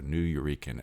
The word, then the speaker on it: Nuyorican: Only because I've heard that do I know how to pronounce it. So Nuyorican, a term for New Yorkers of Puerto Rican heritage.